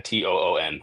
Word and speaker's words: Toon: I couldn't figure out how to pronounce his name until he actually just said, "Hey, man, Toon."